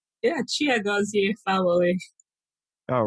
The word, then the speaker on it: Chiagozie: it uh but for the record can you pronounce it one more time just to make sure i said it right yeah chia goes here follow me all right good good uh why